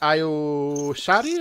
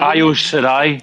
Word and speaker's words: Io Shirai: Number 6 is Io Shari. Am I pronouncing that? Io Shirai.